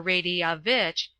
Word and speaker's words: Radovich: Seafia, talking with Radovich, or Radiavich, as it should be sounded, the foreign secretary, on what the Sobranje, it is pronounced Suffrangi, would be likely to do.